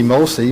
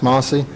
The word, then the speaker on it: Mlcie: mostly farms this experiment is spelled mlcie which is the great grandmother so it could be mosey but it's pronounced mossy they own a lot